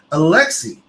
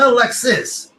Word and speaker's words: Alexis: In my veins, and even though his name is spelled with an S at the end, the S you don't pronounce. So it's Alexi. It's not Alexis.